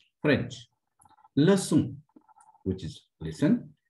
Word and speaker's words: leçon: Leçon, which is listen.